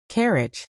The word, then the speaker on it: carriage: D slash with stress on the first syllable and a soft j sound at the end.